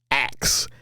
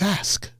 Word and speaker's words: ask: And I used to mispronounce words. Axe. A-X. Axe. And he pulled me aside one day. He says, Greg, do you know you're saying that? Axe. Axe. He says, ask.